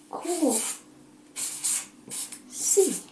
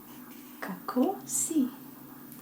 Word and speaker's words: Kako si: Kako si? Question mark. Kako si?